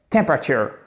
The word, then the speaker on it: temperature: Temperature. Bram. Vous voyez, sur la fin, on a l'impression que le mot, il fait comme ça. Et là, vous avez votre accent tonique.